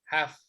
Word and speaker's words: half: No se pronuncia la L, solo se pronuncia la H, una J, la A y la F. Half.